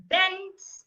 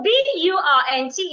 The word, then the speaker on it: burnt: sound s s b bent and bur another uh sound another longer sound so b u r n t Is Not Bent it's burnt burn it has a